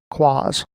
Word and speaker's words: QoS: quality of service settings quality of service is usually abbreviated to qos and often pronounced claws in the 2012 r2 server series there are two places you can apply quas the first is networking